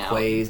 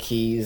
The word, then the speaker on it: quays: So there are going to be some slip-ups, and this guy was railing about, he mispronounced some words, and he was saying quays instead of keys.